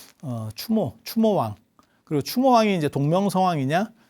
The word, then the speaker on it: 추모: 해보도록 하겠습니다 참고로 말씀드리면 주몽은 아니고요 추모 추모가 원래 제대로 된 일입니다 주몽은 약간 발음이 바뀐 거라고 보시면 돼요 추모 추모왕 그리고 추모왕이 이제